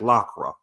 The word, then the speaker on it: Lacroix: YouTube channel, or Magic Lacroix YouTube channel. I'm sorry. That's how you pronounce it, is Lacroix. It's spelled just spell magic with a K, and it's Lacroix, Magic Lacroix.